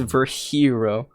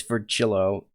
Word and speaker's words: Virgilio: It's pronounced Virhero. Virhero. I'm pretty sure it's Virgillo.